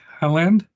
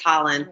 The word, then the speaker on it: Holland: Next, we have Helland. I don't know if I pronounced that right. Sorry. It's okay. It's Holland. No one gets it right.